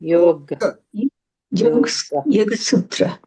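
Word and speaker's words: योगसूत्र: is not correct and yoga sutra. Not correct to say yog. That's in Hindi and Gujarati. Yog that's also wrong. Mhm. Has to be pronounced as yoga sutra.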